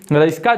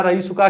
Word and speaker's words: रइसका: रईसका जो है, रईसका है क्या। सबसे पहले तो बहुत लोग इसका उच्चारण रईसका रईसुका क्या क्या कर देते हैं पता नहीं, ये है रईसका।